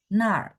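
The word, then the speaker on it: 那儿: 那 Nar ditekan ya.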